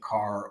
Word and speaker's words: Kerr: breakdown series for Lake Carr I've actually been saying it wrong this whole entire time finally someone let me know in the comment wrong so it's late car or bugs Island so I'll make